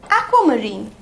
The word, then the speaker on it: aquamarine: अब आते हैं हम अपनी फाइनल पॉइंट पे, AQUAMARINE, जिसे हम प्रोनाउंस करते हैं एज एक्वामरीन। ए आधा क वा, एक्वा मरीन, एक्वामरीन। और एक्वामरीन कलर, एक्वा से